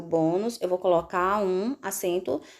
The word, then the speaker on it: bônus: uns deve receber acento bônus paroxítona terminada em Luz deve receber acento como um som é fechado eu não digo bónus eu digo o bônus eu vou colocar um